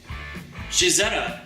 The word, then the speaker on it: Cizeta: his own car company Shahzada is the Italian pronunciation of Claudia's initials cz Claudio can be seen